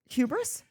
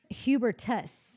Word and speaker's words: Hubertus: The story goes that Hubertus, I hope I'm not saying that wrong. I'm sure I am. Hubris? Hubertus. Yeah. Got it. Sorry. It could be pronounced hubris, though. No, I'm sure that's it.